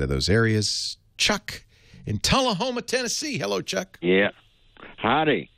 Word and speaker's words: Tullahoma: little town called am i saying it right tulla homa yeah you got it right not many people